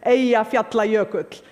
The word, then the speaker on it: Eyjafjallajökull: By the way, the pronunciation is Eyjafjallajökull. None of your media got it right.